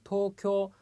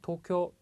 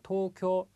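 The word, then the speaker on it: 東京: 자, 도쿄. 자, 앞에 발음도 토도 발음이 길고요. 쿄도 발음이 깁니다. 자, 도쿄 이렇게 짧게 발음하시는 분들이 계신데요. 자, 도쿄 앞에도 길고 뒤에도 길다라는 거 주의를 해 주십시오.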